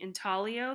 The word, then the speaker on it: intaglio: Intaglio, that's how it's pronounced. It's Italian.